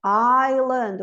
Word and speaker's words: island: Vocês vão falar Iceland, e eu vou dizer island, o S não pronuncia.